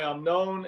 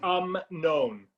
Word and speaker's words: Amnon: Michelle, would you start for us the legend of Rabbi Amnon, and then Lena, did you find it?